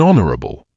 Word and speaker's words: honorable: use and before HED when we do not pronounce h look at the following an honest girl an honorary an honorable an air an AES an hour we used